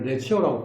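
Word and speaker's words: Lazio: 라지오는 레자이오, 원래 레치오라고 보통 발음합니다.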